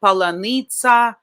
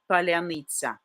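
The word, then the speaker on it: паляниця: They can say palanitsa, palyanytsia, but not this specific Ukrainian way, palyanytsia. Very soft.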